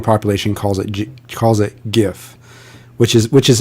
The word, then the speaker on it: GIF: look it up right the creator of the format purposely named it gif after the peanut butter company but you know but